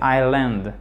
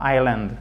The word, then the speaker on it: island: C'est Island. Celui-ci-là, en fait, vous ne le prononcez pas. Island, ok?